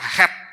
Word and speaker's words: חטא: Kalau dalam bahasa Ibrani, dosa itu ditulis dengan kata het, yang pengucapannya itu sama persis dengan huruf Ibrani ke-8 yang disebut dengan huruf het, yang artinya pemisahan.